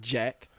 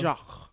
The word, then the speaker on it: Jacques: all that good stuff it's not Jack it's Jacques out there okay no